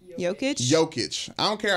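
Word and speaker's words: Jokić: joking is how you say his name okay joke it I don't care how good he is I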